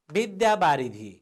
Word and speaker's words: विद्यावारिधि: विद्यावारिधि, विद्यावारिधि। हेर्नुहोस् त, विद्या। तपाईहरू कसैले विद्यालय भन्नुहुन्छ, त्यो चाहिँ शुद्ध उच्चारण भएन। विद्यालय, द र यबाट विद्या, यो ध जस्तो देखिएको मात्रै हो, यो ध होइन।